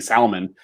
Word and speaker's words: salmon: They don't emphasize the L. It's like saying salmon.